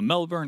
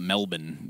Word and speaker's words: Melbourne: Only people outside of Australia pronounce the full, like the actual letters of that city.